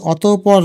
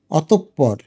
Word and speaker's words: অতঃপর: এটার উচ্চারণ কিন্তু অতঃপর না, এটার উচ্চারণ হচ্ছে অতঃপর।